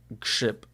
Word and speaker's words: grzyb: So, all right, mushroom is grzyb.